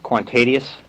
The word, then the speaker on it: Kwantedius: your first name for me i know i mispronounce it quan tedius quantadius thank you okay my boss makes me fill